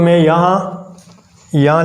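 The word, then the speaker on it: μ: इसको हम क्या करते हैं, म्यू से, यानी इसका जो प्रोनाउंसिएशन है वो है म्यू।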